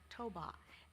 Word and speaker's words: Toba: I belong to the ethnic group Batak with Toba, pronounced Toba, as its sub-ethnic.